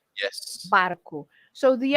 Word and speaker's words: barco: o garfo and o barco, probably the person who pronounced it also skipped the O at the end. But Yeah. the O at the end is always pronounced as the sound U.